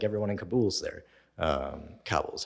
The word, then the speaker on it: Kabul: Kabul is how you pronounce it. I say Kabul. Whatever. Yeah, I keep on wanting to say Kabal.